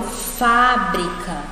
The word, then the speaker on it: fábrica: babá eo pa é a antepenúltima e ela é a mais forte eu falo fábrica certo se eu falo